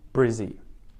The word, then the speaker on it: Brizzy: We take the first syllable, we turn it, we add the IE or the Y sound on the end, and we make it Brizzy. Brisbane, Brizzy.